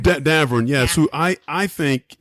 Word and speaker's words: Davern: Is that how you pronounce? Davern. Davern, yes, yeah.